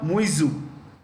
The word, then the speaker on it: Muizzu: His name is Mohammad Muizzu, MUIZZU. MUIZZU. The Americans say ZZU, we say ZZ. Okay, yeah.